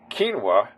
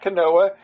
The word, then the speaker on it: quinoa: first started using it I was pronouncing it quinoa and then my friends in Alaska started making fun of me and they said no no it's not quinoa it's quinoa so it's like okay okay